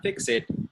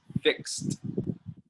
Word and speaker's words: fixed: Now look, the word fixed is only 1 syllable, not 2. Not fix it, it's fixed. Fixed.